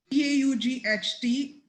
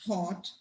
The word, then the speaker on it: taught: T-A-U-G-H-T, taught, not thought.